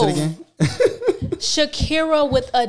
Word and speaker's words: Dhakirah: D'Erica. That's what I'm going to call you. No. You don't like that? No. How you pronounce it again? Dhakirah with a D.